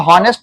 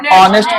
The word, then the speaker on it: honest: एसएच भी है, should, इसको हॉनेस्ट नहीं, इसको ऑनेस्ट पढ़ेंगे, ओ क्या पढ़ेंगे इसको, ऑनेस्ट पढ़ेंगे, इसको क्या पढ़ेंगे, ऑनेस्ट।